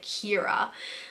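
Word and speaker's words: Ciara: thought it was but that's like a Irish name and it has a completely different meaning in a completely different pronunciation which is like Keira but the Italian way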